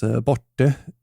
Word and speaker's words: borte: For example, gone or borta in Swedish is pronounced as borte in Gotland.